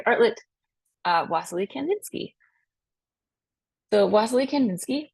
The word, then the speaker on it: Wassily Kandinsky: Lake Grove Elementary artlet uh wasley Kandinsky so wasley Kandinsky pronounced that way as on here wasley kandin ski